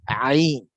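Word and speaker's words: ع: One of that alphabet is Ain. Ain. It comes from throat. Ain. Ain. Ain. So many Arab, when they chat, they use 3 or 9 when they want to use that Ain. Ain, because there is no equivalent of alphabet in English.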